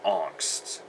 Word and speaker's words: Angst: favorite albums is 1993's angst or if you want want to use the German pronunciation it's anst um what do you